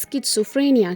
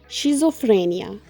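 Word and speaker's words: schizophrenia: लेकिन इसकी यह मैं असल प्रोनाउंसिएशन कर रही हूं क्योंकि मैं हालिया दिनों में एक ड्रामा देख रही थी पाकिस्तानी जिसमें वो इसको पढ़ रहे थे शिजोफ्रेनिया। सो एक्चुअल में इसकी यह प्रोनाउंसिएशन नहीं है।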